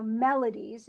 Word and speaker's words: melodies: do so herd Melodies so Melodies is definitely stressed on the first syllable and the the secondary